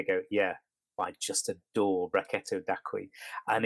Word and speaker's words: Brachetto: It's an unusual, quite rare grape variety in Italy called Brachetto. It's spelled Brach. E-T-T-O, Brachetto, and it comes from Acqui, Acqui, and